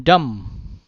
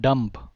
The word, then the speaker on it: dumb: key pronunciation Quixote hey it's not bomb it's bomb right then dumb not dump then it is thumb not thump then it's calm not